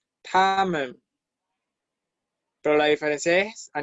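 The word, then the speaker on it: 他们: Fíjense que ellos y ellas se pronuncia igual. Se pronuncia tamen, tamen.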